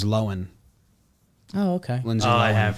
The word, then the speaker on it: Lohan: i think there's um lindsay lohan it pronounces her name different than people think so that's a topic that's exciting that is exciting it's not that i thought it was bigger she just says lowen oh okay lindsay i